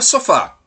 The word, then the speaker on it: sofá: ela se torna oxítona, porque a sílaba forte é a última sílaba da palavra. Então, dividindo as sílabas da palavra sofá, fica sofá. E a sílaba com a tonicidade maior é a sílaba fá.